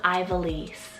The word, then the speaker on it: Ivelisse: is another really girly option it's the name ivelisse spell i-v-e-l-i-s-s-e ivelisse and it means from the mountain or